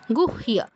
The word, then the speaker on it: গুহ্য: এই ক্ষেত্রে হ আগে উচ্চারণ হবে, ইয় আগে উচ্চারণ হবে না, অর্থাৎ গুইহ বলবো না, গুহিয়া, গুহিয়া।